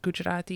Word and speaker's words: Gujarati: me about speaking gujarati in and am i pronouncing it right gujarati yes you are okay okay tell me about